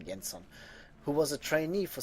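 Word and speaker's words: Jenson: he he is French this is not a French name though yanson I'm just going to pronounce him yenson who was a trainee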